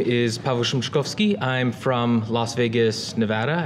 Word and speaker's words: Pawel Szymczykowski: If you're not familiar with the Polish pronunciation of names, I've provided an emoji pronunciation guide. So if it's if you can say Pawel Szymczykowski, that is a pretty good approximation.